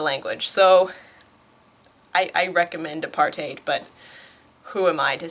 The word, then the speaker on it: apartheid: actually speak the language so I I recommend a part8 but who am I to say maybe I'll